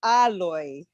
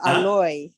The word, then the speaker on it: alloy: Maharaj, I believe that it's pronounced alloy, not alloy.